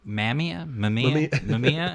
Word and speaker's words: Mamiya: The Mamiya. I honestly can't remember how to pronounce Yeah, it.